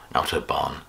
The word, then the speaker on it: Autobahn: Number four is Kraftwerk and Autobahn from 1974, or Autobahn if you're going to use your very plummy home counties accent, but I think the German pronunciation is more Autobahn.